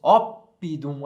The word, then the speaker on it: oppidum: nós fazemos Gália certo quando nós temos duas consoantes acontece isso dá um tempo a mais na pronúncia nós vamos dizer op de um vamos dizer gallia vamos dizer Britânia certo Então temos que